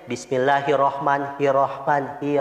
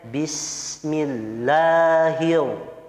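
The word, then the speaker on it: بسم الله الرحمن الرحيم: diperhatikan hop di dijaga tidak boleh membacanya Bismillahirrohmanirrohim Rohman seolah disitu menghilangkan huruf r bertasydid maka harus dibaca tasnya ya Bismillahirohmanirohim kyung-ah kemudian di huruf RO nya tidak boleh getarannya lebih dari satu kali contohnya Bismillahirrohmanirrohim itu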